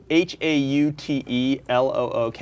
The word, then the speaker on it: HauteLook: spell it HAUTELOOK. It's really Oh, like Outlook.